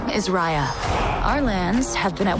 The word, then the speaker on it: Raya: with the same grade uh we're doomed uh it's spelled r-a-y-a but it's pronounced raya uh and disney was